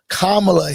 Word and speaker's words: Kamala: So it's Kamala Harris.